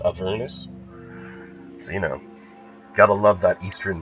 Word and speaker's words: Avernus: I keep saying Avernus, but I think it's actually pronounced Avernus.